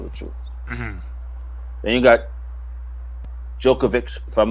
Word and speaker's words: Djokovic: he not tell the truth then you got jokovic if i'm not mistaken yeah novak is am i saying it right um what's his first name novak we'll talk about novak djokovic thank you you know i'm terrible novak so